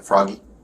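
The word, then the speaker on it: Froggi: I'm Froggy, by the way. That's what everyone calls me. Froggy. Froggy. Yeah. Like F R O G Y. Froggy.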